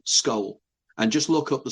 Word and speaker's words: Scole: in a village called Skull in Norfolk in the UK. You might have to spell that for people who are not familiar with the UK. Okay, SCOLE, Skull.